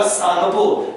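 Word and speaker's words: Tsangpo: और T silent होगा, सांगपो।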